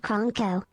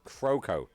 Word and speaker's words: Kroko: It is KR_Kroko, not Kronko. Croco. Okay, Croco. Apologies.